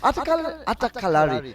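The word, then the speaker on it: Attakkalari: I think Shubi does a finer job of pronouncing it. Atakalari.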